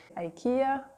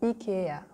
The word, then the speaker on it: IKEA: So in America or in England, you will say IKEA. In France, we say IKEA.